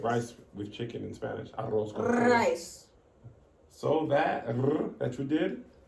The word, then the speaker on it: arroz con pollo: Do you know how to roll your R's? Arroz con pollo. Can you say that?